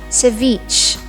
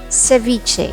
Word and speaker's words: ceviche: When you order, don't say ceviche, ceviche, ceviche. It's not Italian. Or some would even say it ceviche. Say it as ceviche.